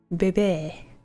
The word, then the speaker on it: Bebe: is her glass and yes it's spelled BB baby just level seven elephant